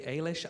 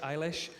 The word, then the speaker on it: Eilish: who I love I don't know if I'm pronouncing her surname right but Billy aylesh Eilish Eilish yeah I'm not gonna lie I've been